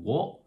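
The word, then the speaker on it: を: And the same is true for o. It used to be pronounced, this is actually the hiragana character for the sound wo, but everybody still pronounces it o, and they decided, okay, we're just gonna leave it.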